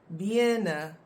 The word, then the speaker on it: bene: But when made into a plural, one of those two vowels fall away and it becomes bene. However, the pronunciation does not change. So it's bien in the singular and bene in the plural. However, there is one less vowel visually, but the pronunciation remains the same.